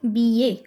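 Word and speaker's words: billet: Second is BA. देखो BILL is B. E is A. BA. T last ਵਿੱਚ ਉਹ pronounce ਹੋਣਾ ਨਹੀਂ. It will be BA.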